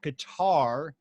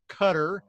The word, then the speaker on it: Qatar: know a lot of people in our country mispronounced that guitar it's really pronounced Qatar she's been there for several years but she's